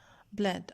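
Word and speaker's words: bled: Okay जी, next है हमारे पास ब्लीड, ब्लड, ब्लड। अब देखें इसकी जो सेकेंड और थर्ड फॉर्म है इसमें सिंगल ई आ रहा है और इसको हम ब्लड प्रोनाउंस करेंगे, ब्लीड, ब्लड, ब्लड।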